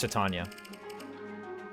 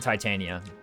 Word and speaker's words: Titania: avoid 10 under attack it's tatan not Titania I used to make that mistake but not anymore but the narrator does pronounce her name and he does say tatan therefore it's tatan